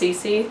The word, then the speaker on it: CeCe: And I'm just gonna say that this is pronounced CeCe, this one.